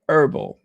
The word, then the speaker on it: herbal: Yeah, I feel like I'm missing something, but you know, oh, the H is silent. Thank you, can of soda. So, herbal.